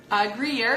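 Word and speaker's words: Gruyère: cheddar it's mixed with Gruyere Greer Greer is not even an English word but you know from my rich cheese experience people in America say Greer Greer Greer Greer this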